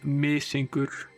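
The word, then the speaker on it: Mysingur: that particular cheese, and Mr. Cola made an attempt at pronouncing the Icelandic name, which I will now repeat. It's Misingur. Mr.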